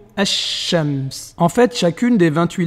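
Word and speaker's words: الشمس: Donc on ne va pas dire al-shams, mais plutôt ash-shams.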